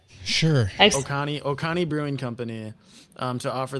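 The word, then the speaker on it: Oconee: a georgia-based brewery called o-c-o-n-e-e what is that word i don't know oh oh what connie oh connie oh connie brewing o-c-o-n-e-e-e that's how you spell it okay is that a county that sounds correct sure oh connie brewing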